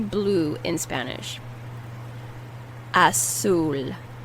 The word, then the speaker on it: azul: Azul. Azul. You put more emphasis on the U. Azul. And the Z is pronounced as an S.